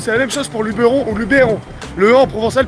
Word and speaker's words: Luberon: on dit Cassi on on dit le lubon ou le Luberon qu'est-ce qu'on dit hein le Luberon Luberon en fait tout ça c'est des histoires d'accents régionaux fa savoir qu' normalement